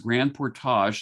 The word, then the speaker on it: Grand Portage: buying okay next up grand portage it's called it's pronounced grand portage they have to put on your french accent if you want to pronounce it correctly but basically this is